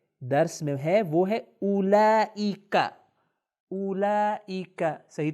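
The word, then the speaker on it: أولئك: جو پروناؤن ہمارے درس میں ہے وہ ہے اولئک۔ اولئک، صحیح تلفظ کریں، اولئک، اس کا مطلب ہے وہ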